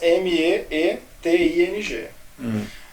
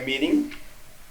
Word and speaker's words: meeting: Reunião em inglês, M-E-E-T-I-N-G. Tem gente que pronuncia meeting, tem gente que pronuncia meeting. Esse é um fenômeno chamado rotacionismo. Que é Rotacionismo. Você substitui o T pelo R na pronúncia.